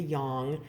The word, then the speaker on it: yang: And I had originally had the pronunciation corrected from yang to yang. And then I found out that the G is silent and it's yin and yang.